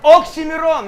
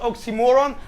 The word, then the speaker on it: Oxxxymiron: OXXXYMIRON, not oxymoron.